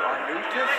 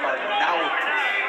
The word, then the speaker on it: Arnaoutis: And that is the pronunciation, by the way. We did check with Mighty Mike today. Because the announcers seem to have a big problem with his name. We hear Arnaoutis, Arnaoutis, Arnaoutis. It's Arnaoutis.